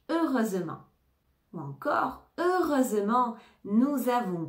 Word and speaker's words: heureusement: a pas eu d'accident ne prononce pas le H heureusement ou encore heureusement nous